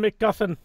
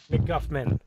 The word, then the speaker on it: McGuffman: No, his real name is Horan McGuffman.